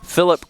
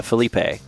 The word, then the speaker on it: Felipe: To say it properly, just say Philip Korea. You should get it right." Okay, so Phillip. So I use I usually say uh Felipe.